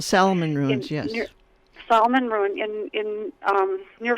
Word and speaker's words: Salmon Ruins: But also, I visited Salmon Ruin, I believe it's pronounced. Salmon Ruins, yes.